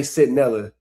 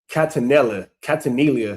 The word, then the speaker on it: Centinela: But this is also the same nigga that said, he didn't say Centinela. He said Catanilla, or some shit like that.